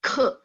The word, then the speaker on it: 刻: kan dia jadi bacanya KHE, ke. Ke. Boleh? Ke. KHE bacanya. Ke. Ada H, ada angin.